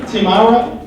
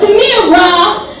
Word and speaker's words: Tamira: Did I say it right? Say it again. Timara? No. No, it's Tamira.